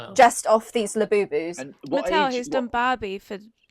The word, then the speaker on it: Labubu: Spell it. Laboo. Labubu.